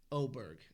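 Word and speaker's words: Åberg: Uh Levig Oberg Aberg. Yeah. 15 different ways to say that, but that's how they were saying. Ludvig Oberg is how I've heard it pronounced by the announcers.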